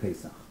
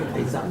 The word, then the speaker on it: Paysach: Because they couldn't say Paysach, they can't pronounce the CH, right?